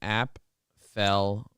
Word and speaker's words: Apfel: It's app fel.